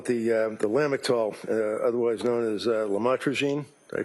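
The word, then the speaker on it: lamotrigine: about the u the lamel otherwise known as lamatrogene. Did I pronounce that right? Lamotraine.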